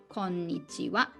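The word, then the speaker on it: こんにちは: For example, konbanwa and konnichiwa. So these 2 is also ha. We use ha, but pronunciation wa. Konbanwa, konnichiwa.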